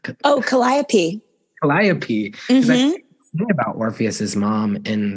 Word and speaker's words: Calliope: know how to say the mother's name oh Calliope Calliope about orpheus's Mom in the song yes